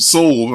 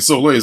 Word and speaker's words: Soleil: was thinking too um I heard it's pronounced soul and I was saying so late I thought I was